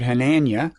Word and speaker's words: Hanania: audio podcast you are richard henanya if that's pronounced correctly it's close enough okay thank you i'll i'll